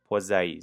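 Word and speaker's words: Poiseuille: to pronounce this law it's p law it's not pil law it's p law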